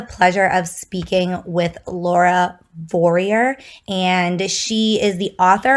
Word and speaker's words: Vorreyer: So just right off the bat, I'll say it's like warrior with a V, Vorreyer.